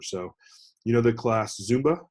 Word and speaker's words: Zumba: Well, just remember it's Zoom and then dash ba. Okay, Zumba. It's like two syllables, and you're breaking up the syllables with that dash.